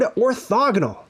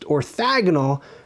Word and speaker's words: orthogonal: i often hear the word mispronounced "orthAgonal"... that's probably because we say diAgonal, so they throw an "a" in there instead of an "o," but it's orthOgonal.